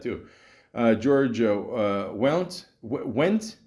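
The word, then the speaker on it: Wendt: uh George uh well went how do you say it w the the D and the T throw me off together George went went is that it yeah apparently uh his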